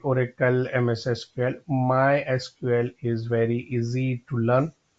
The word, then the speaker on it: MySQL: more speed okay so the official way to pronounce my SQL is my SQL not my SQL so if